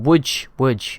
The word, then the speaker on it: Łódź: Lisbon, Stockholm, Warsaw, Braga, Lodz, or Łódź, I nearly forgot, but that's how you say it apparently, Marrakesh, Rabat, Barcelona, Azure,